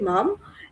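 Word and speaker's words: Maugham: তোমার হচ্ছে সমারশে সমারশেট মম ইনি এনার পুরো নামটা হচ্ছে ডবলিউ সমারশে মম বা তুমি এস মম বললেও হবে এস ডট দিয়ে মমটাকে মনে রাখিও প্রনাউন্সিয়েশনটা মম হবে আর বানানটা একটু দেখে নিবা লাঞ্চন একটি হাস্যরসাত্মক এবং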